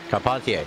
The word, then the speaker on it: Carpentier: What's how you pronounce Carpentier's last name? Carpentier. Thank you. That's what it was.